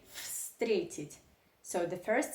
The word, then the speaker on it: встретить: transformed into fun so if you want to pronounce this Russian verb correctly you do not say frustrated you say frustrated so the first sound of this Russian verb